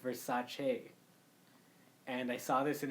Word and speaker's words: Versace: we learned recently actually is that it's not pronounced Versace and I learned that recently no yeah it's pronounced Versace and I saw this in an interview with